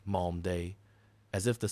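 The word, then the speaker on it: Malmedy: of a Belgian town, pronounces it Mald D. A prisoner corrects him softly. Malm day, as if the syllables were a thing to be kept honest.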